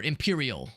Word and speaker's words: Empyrean: Empyrean comes out tomorrow, and I just learned earlier today that or Imperial. That's how you pronounce it, or that's the name of it rather.